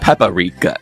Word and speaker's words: paprika: I'm not sure that I know what paprika is. What did I say? Paprika. Paprika. Paprika. Paprika. Paprika. Paprika. Do you know what it You is? put in the wrong emphasis on the wrong syllable.